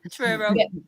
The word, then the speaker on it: Truro: I hope I pronounce this right. Is it Truro? Yes, Truro.